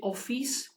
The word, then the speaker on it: ئۆفیس: Office in English, and in Kurdish we say ئۆفیس. We some sort of elongate the E sound.